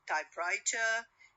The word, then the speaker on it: typewriter: Two nouns, if the compound word consists of two nouns, so it normally has the stress on the first element.